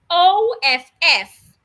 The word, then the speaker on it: off: When you have OFF, OFF, the two F's sounds off.